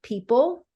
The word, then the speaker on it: people: like a word like people I remember specifically um you know you've got a silent o it's spelled real it's not a great spelling considering the sound of the word right so they were